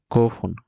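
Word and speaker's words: 五分: মাছি মাছ মাছি মাছ গোফন এযে আমরা বলেছিলাম পাঁচ মিনিট বলতে ফোন বসে বাকিগুলোতে পুন বসে গোফন মাছি মাছ পাঁচ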